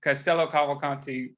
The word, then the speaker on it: Castello Cavalcanti: at this to make sure i get the pronunciation right yes castello cop caboconti thank you castello cavalcanti those are a little more uh whimsical and